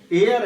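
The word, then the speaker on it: heir: जैसे फॉर an example, mostly इसको हेयर पढ़ेंगे, पढ़ रहे हैं, बट इसका रियल जो प्रोनाउंसिएशन है वो एयर है, नॉट हेयर। एयर पढ़ा जाएगा इसको।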